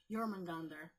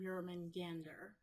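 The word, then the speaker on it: Jörmungandr: And then the Midgard serpent, who, to the best of my knowledge, is pronounced Jormungandr. And I've also heard Jormungandr, but I think the A goes O there.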